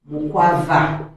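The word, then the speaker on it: Mkwawa: That's why he was called Mukwava. Though for us we cannot pronounce it, that's why we call it Mukwawa, which meant that he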